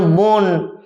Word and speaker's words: বন: অর্থাৎ আমাদের এইভাবে বাংলা ভাষার একটা সাধারণ বৈশিষ্ট্য হলো শব্দের শেষে অ উচ্চারণ না করা, লেখি কিন্তু উচ্চারণ করি না, যেমন বন, গাছ ইত্যাদি।